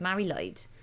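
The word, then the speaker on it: Mari Lwyd: it's spelled m-a-i-l-w-yd and in Welsh if you don't have a Double L which is a noise then you say it's light so it's marry light so it's a tradition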